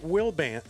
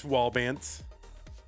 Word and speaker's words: Wallbant: Anyway, on the left side, it is WallB band seed number, not Willbant. Not not Willbant or Bantill. It's WB band.